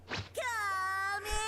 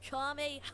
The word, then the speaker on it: Kamehameha: Kame! Dude, you're not even saying it right. It's Kamehameha.